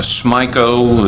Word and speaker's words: Smyco: Smyco is the way they pronounce that. It's Smith is the principal company, is where the name comes from, was the low bidder at $244,113.